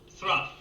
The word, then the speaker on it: through: One day he cut wood so fast that by 3 o'clock in the afternoon, his day's work was through. Hold it, Shakespeare. Through? T-H-R-O-U-G-H is pronounced through.